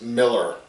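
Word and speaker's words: Millar: that it's both an A but it is pronounced Miller Miller struck up a friendship with Morrison at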